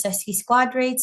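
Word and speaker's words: sesquiquadrate: Here's the wasking sesi squares as astrologers are saying now I learned how to say them as sesy squadrates 135 years moving into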